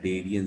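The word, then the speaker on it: Cnidaria: नाम usually use किया Darien सी silent है डेरिया पढ़ा जा नाइट नीडल लाइक इसका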